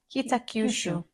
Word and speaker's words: Kitakyushu: Kitakyushu. Kitakyushu. Kitakyushu.